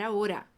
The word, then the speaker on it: ahora: Yo no puedo hablar ahora. Eu não posso falar agora. Preste atenção aí na pronúncia, no ahora, que é o O bem fechadinho.